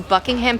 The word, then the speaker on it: Buckingham: Yeah, Buckingham. Buckingham? Okay. Americans overpronounce things all the time. You're supposed Gar- to slur it like you're drunk.